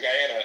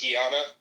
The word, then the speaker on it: Guyana: like, "Yeah, you know, because my family's from Guyana." And she would literally be like, "It's pronounced Gana.